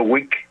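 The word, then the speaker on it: Whig: siglo XIX hubo un partido llamado el partido wick eh W h i G se escribe wick party que que tuvo bastante presencia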